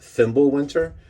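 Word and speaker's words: Fimbulwinter: gutter pops Comics uh the title is pronounced thimblewinter and it is Joshua Miller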